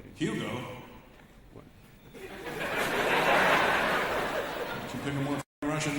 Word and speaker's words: Hugo: With a silent H. But we've been saying Hugh. I don't know if you know how the silent H's work there, Hugo. Right? Silent H would just make you Hugo.